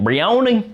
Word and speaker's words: Brioni: Also really dig this broni. The intense. That's the correct way to say it. Brioni.